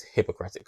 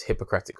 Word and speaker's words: Hippocratic: the doctor of his hippocratic oath i think that's how you say it sounds like hypocrite but reminding the doctor of his hippocratic oath to tell him